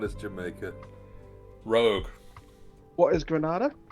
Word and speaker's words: Grenada: What is Grenada? Correct, Rogue. Oh yeah. Ben, I think it's pronounced Grenada, though, isn't it? Depends on if you're American or anyone else.